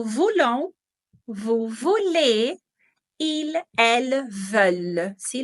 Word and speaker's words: veulent: Nous voulons, vous voulez, ils, elles, veulent. ¿Sí? La pronunciación c'est plus ouverte, es un poco más abierta al final.